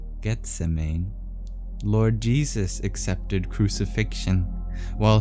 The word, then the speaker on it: Gethsemane: Hearing his calling at Gethsemane, I don't know how to pronounce this biblical place, sorry. Gethsemane. Gethsemane.